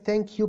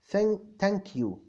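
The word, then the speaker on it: thank you: بالنسبه لعمر عبد العزيز كلمه ثانك يو بتتنطق ازاي؟ لان بحس ان الناس بينطقوها تانك يو اه بص اللي مش امريكانز هتلاقيهم بيقولوا تان تانك يو هو زي مثلا التشاينيز والجابانيز والجزء ده شويه بيقولوا ها تانك يو فعلا ان هم ما عندهمش اصلا في اللانجويج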